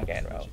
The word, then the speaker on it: McXro: It's pronounced like the tennis pro, The but it's tennis pro, Jon yeah. Mcxro.